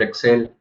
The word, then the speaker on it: XL: Por la pronunciación en inglés de las siglas también puede ser Excel, ¿no?